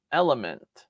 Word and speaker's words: Element: All right, number 19, Open Your Eyes to Love from Element. That's how you pronounce it.